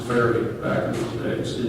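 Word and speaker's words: Fayre: That's why I say F-A-Y-R-E was probably pronounced fairy back in those days in England.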